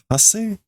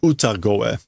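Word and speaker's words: 歌声: Kase is going to be like the singing voice. If that is actually the right way to pronounce that. I don't think it is. Oh, utagoe. It's going to be utagoe.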